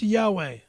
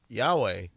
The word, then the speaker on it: Yahweh: Or if you're Hebrew, it's Yahweh. Yahweh.